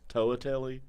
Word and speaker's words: Toatelli: Toatelli. Toatelli. Like Toad.